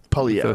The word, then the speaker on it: Poilievre: Poilievre. Sort of a weird R, silent R.